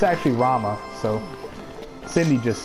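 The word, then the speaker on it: Ramuh: pronounce that name I got pronouncing Ramen summoned as ramu and I was thinking it was Rhema but it's actually Rama so Cindy just said it I'ma just I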